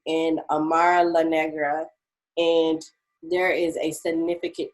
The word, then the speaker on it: Amara La Negra: around what's her name again say it again amar la nega amara la negra she's um i know how to say her